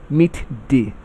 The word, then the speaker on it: midday: Midday takes its stress on the second syllable.